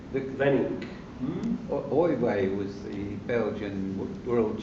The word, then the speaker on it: Weenink: Is it Oiway? Weenink.